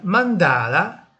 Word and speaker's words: Mandala: adesso scegliamo la simmetria Mandala che della pronuncia sia sulla penultima come Piana parola piana ma simmetria Mandala anche